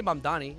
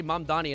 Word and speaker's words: Mamdani: I say Mamdani. At least I say Mamdani and not like Zoran Mammogram or something.